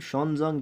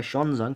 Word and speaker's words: Xuanzang: और इसी तरह से ह्यून का और एक नाम शॉनजोंग भी है, इसे इस तरह से भी प्रोनाउंस किया जाता है, शॉनजोंग भी लिखा जाता है और ह्यून भी, और इसको ह्यून भी लिखा जाता है।